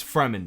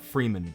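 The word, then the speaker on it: Fremen: his mom are now with the freman it's freman not Freeman I I I heard people pronounce Freeman and it's like bro they call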